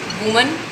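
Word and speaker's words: women: वुमन, वुमन ये हो जाएगा विमेन। इसकी प्रोनाउंसिएशन पे भी ध्यान दीजिए, इसको वुमन बोलते हैं, इसको विमेन बोलते हैं, चेंज हो जाएगा प्रोनाउंसिएशन, ठीक है।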